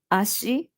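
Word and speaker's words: あし: Also, in Japanese, foot and leg is pronounced ashi. The pronunciation is the same, but the kanji is different.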